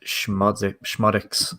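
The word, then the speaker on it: Szmodics: Yeah, and obviously we mentioned Lenny says it's pronounced Schmodics.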